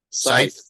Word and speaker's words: scythe: Scythe. Yep, that's how you say it. It's spelt funny. It's SCYTHE.